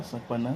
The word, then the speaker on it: Saponna: How you pronounce it in Yoruba? Yeah, Saponna.